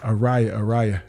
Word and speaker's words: Ariyah: I said, Ariyah, Daddy's here.